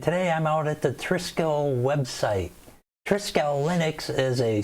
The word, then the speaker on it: Trisquel: in spain virtually and trisco again or triskell i guess is probably the exact pronunciation so i'll try to keep to that however this is based